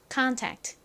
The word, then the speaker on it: contact: 트 소리가 나서가 됩니다 contact 한국식으로는 앞부분을 컨이 아니라 콘으로 경우가 많은데요 트의 의미가 뭘까요 접촉